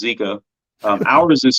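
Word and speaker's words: Jika: it so it's pronounced zika rig it's spelled j-i-k-a but it's pronounced zika um ours is called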